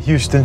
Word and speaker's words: Houston: out of town, but it's kind of like Houston Street in New York City. It's spelled like Houston, but it's not Houston Street, it's Houston Street.